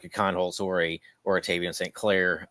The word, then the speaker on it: Kienholz: I don't mispronounce it. Kienholz.